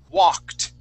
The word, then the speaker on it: walked: one is the word walked okay so this word right here it has an ed ending that Ed sounds like a t walked okay you see